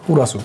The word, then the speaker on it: কুরাসু: ৩৭ নম্বরে আমাদের যে শব্দটি আছে তা হলো কুরাসু। কুরাসু অর্থাৎ ক্লাস। কুরাসু শব্দটিও মূলত ইংরেজি থেকে এসেছে, যে কারণে এটা কাতাকানা দিয়ে লেখা এবং এর উচ্চারণ প্রায় মানে কিছুটা ক্লাসের মতোই এর উচ্চারণ।